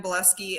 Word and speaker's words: Bileski: i'm the only buleski out there so google boleski um and it's spelled bile as in like and ski so like your spot ski bielski yeah um so